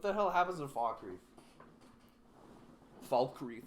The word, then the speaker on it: Falkreath: Falkreath. You're just supposed to pronounce the L.